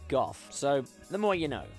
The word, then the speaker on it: Gough: In 4th place is Michael Gough, and before you Americans tell me it's pronounced Michael Go, no, he's a British actor. In England, a name like that would be pronounced as Gough, so The more you know.